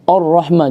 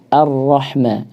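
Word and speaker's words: الرحمن: Ar-Rahma jadi o. Harusnya dibaca a. Ar-Rahma. Harus jelas, tetap tipis ya, jangan sampai o ya, dibaca a.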